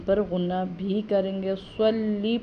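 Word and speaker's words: صلِّ: غنہ بھی کریں گے، صلی پڑھیں گے، صاد پڑھیں گے، سلی نہیں پڑھیں گے، علی عین ادا کریں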